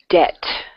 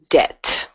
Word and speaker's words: debt: okay yeah that's it debt okay the B is silent debt okay guys so on